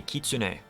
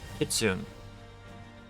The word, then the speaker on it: kitsune: Like the Kitsune, which is a Japanese fox spirit. They were pronouncing Kitsune.